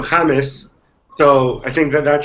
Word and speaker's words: James: you pronounce it uh he go he asked people to call him jamus so I think that